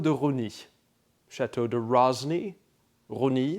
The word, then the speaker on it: Rosny: Château de Rosny, Rosny, that would be just like the French to have an S that's not pronounced in there.